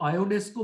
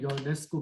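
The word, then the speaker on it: Ionesco: इसको आयोनेस्को भी प्रोनाउंस कर सकते हैं, योनेस्को भी कर सकते हैं।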